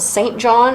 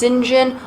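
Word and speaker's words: St John: rivers that is felt saint john it's pronounced sinjin why i don't know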